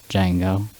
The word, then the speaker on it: Django: Django. How do you spell it? DJANGO. The D is silent.